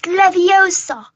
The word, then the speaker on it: Leviosa: You're going to take someone's out besides you're saying it wrong. It's Leviosa, not something like that.